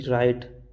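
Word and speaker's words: write: ये लिखा हमने आर से पहले डब्लू साइलेंट होता है।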